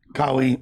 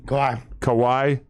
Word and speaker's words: Kawhi: I've been picking more on, how would you pronounce that? Kawhi, Kawhi.